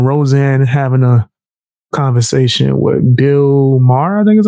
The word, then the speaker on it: Bill Maher: He's going to be speaking on Roseanne, having a conversation with Bill Maher, I think is how you pronounce the dude's name.